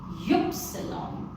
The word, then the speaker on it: Ypsilon: And then Y is Ypsilon.